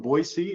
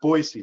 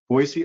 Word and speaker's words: Boise: Um we just got back from Boisee and it's pronounced Boisey, not Boise. Boisey, Idaho.